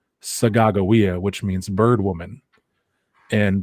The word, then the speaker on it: Sacagawea: who you would call sacajawea but it's actually pronounced and it's a hidatsa word sagagowia which means bird woman